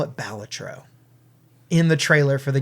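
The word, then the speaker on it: Balatro: it's a great game it's pronounced batro I refuse to change and uh it is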